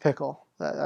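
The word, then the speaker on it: Phichol: i did with levi but it's pickle it's pickle rick it is pickle uh what do i do it's pronounced pickle that is that's the truth that's um yep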